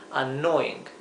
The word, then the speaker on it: annoying: Esta doble n se pronuncia como una n un poco más larga, en realidad no es que sea necesariamente larga, pero hacemos bastante énfasis en la n que que se note.